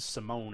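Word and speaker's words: Simón: inning off of Alfredo Simon or Simone I mean they they they pronounced it Simone at that time John Jay hit his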